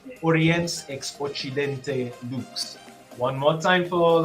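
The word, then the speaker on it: Oriens ex Occidente: you'll have to bear with me here it's pronounced orients expochidente one more time for all of y'all who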